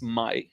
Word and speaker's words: Mai: may you know because her name is pronounced my in Hebrew so I'm going to try and pronounce it the correct way not may like in English so it was mostly